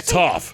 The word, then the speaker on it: Toph: My name is Toph, because it rhymes with tough.